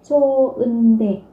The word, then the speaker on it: 좋은데: nối âm lên, nhưng trong trường hợp này thì vị trí phát chim là phụ âm hờ, nó kết thúc ở đây được coi là âm câm, nên là các bạn không nối âm, các bạn sẽ phát âm là 좋은데.